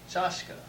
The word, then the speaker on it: чашка: Here we have chashka.